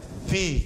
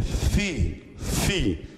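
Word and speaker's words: φῖ: Então, o som do F, do Fi, ele tem esse Fi, que você junta os dois lábios. Não é Fi, que você põe o dente, Fi. É Fi. Esse é o verdadeiro som do Fi.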